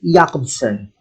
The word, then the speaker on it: Jakobson: stephen krashen the roman jakobson it's pronounced jacob's son not jacob's son again this linguist is